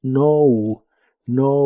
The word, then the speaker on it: known: La K no se pronuncia de nuevo, así que la pronunciación es no un.